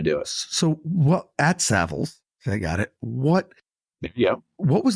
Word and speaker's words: Savills: So you started at the bottom, quote unquote, at your company, which the name I always pronounced incorrectly, Savills. Did I get it right? Savills. Savills. Yeah.